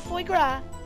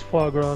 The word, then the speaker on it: foie gras: on a pate of foie gras. Wow, did I say it wrong? Yeah, it's foie gras, not foie gras.